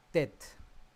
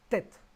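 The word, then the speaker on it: טֵית: Y la última de esta tarde, de esta clase, es la letra tet.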